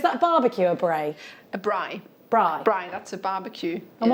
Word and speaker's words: braai: A braai.